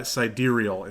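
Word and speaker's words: sidereal: is it is it's it is spelled side real not ra and so siderial is how you would pronounce that sideral side rail side rail I like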